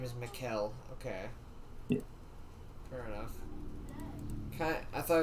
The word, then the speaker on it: Mikhail: then k-a-l-a-s-h n-i-k-o-v okay so his name is mikel okay fair enough i thought it was like michaela or something november 10th 1919 to december 23rd 2013.